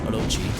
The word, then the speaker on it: Orochi: Actually, I believe the official pronunciation is Orochi, since they're a Japanese company.